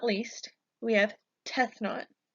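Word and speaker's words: Tefnut: not least we have death not this is probably one of the harder ones to pronounce so we can break it down into death not death not death not is the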